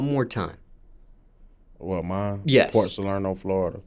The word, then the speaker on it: Port Salerno: for you when it came to and just pronounce that City one more time what mine yes Port solaro Florida Port solaro Florida yeah was it a specific part of